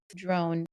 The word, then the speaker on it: Drown: her name is Ruth drone and drone is spelled like drown d r o w n and she is one